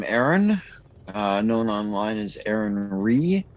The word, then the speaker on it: Righ: Hi there, I'm Aaron, known online as Aaron Ree, which is spelled exactly as it sounds, R-I-G-H.